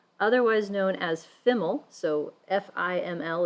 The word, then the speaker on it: FIML: So the term full information estimator, otherwise known as FIML, so F-I-M-L is pronounced FIML.